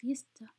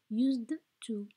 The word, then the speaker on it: used to: We do not pronounce it used to. We pronounce it used to, just like had to. We don't pronounce it had to. We pronounce it had to. Okay? Schwa by the end.